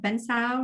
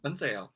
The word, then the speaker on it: bánh xèo: The one that pops in my head is the crab with all the vegetables and shrimp at bánh xào, right? That's how you say it. Bánh xèo.